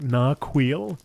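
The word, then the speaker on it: Narchuil: okay i gotta remember that's how you pronounce it nark wheel not not chewy really greetings not chewy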